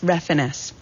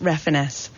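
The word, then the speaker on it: Refenes: his partner um Tommy his last name is pronounced refiness and I was really upset because I really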